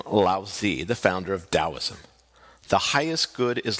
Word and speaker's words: Taoism: Now let's talk about Taoism. It's pronounced with the sound of a D, even though it's spelled with a T.